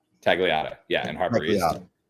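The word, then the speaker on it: Tagliata: of mine uh and I'm gonna pronounce it wrong you're gonna have to tell me have you ever been to tag Alita t a g l i a TA tagata yeah in har it's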